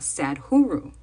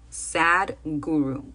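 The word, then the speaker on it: Sadhguru: hombre que se llama Sad huru Sad huru que se escribe s H guru Sad guru un guru triste es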